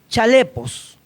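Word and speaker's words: χαλεπός: peligrosos o tiempos peligrosos viene de una palabra griega que se pronuncia chalé post y esta palabra significa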